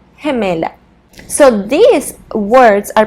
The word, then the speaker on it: gemela: If it's a female twin, we will say gemela, gemela. So these words are pronounced with a soft G sound.